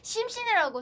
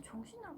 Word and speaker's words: 정신: 근데 심신이라고 생각해서 그렇게 생각하면 그렇게 들릴 수도 맞아 있어요. 원래 근데. 그래. 근데 정신이요. 이번에 제가 신경 써서 해볼게요. 근데 진짜 정신이라고 부르는데 발음이 안 좋을 수도 있어요 제가.